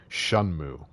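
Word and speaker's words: Shenmue: By the way, that's how you pronounce that. Shunmu.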